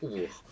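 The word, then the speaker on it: oubykh: Alors ça s'écrit O-U-B-Y-K-H, mais ça se prononce Oubourg.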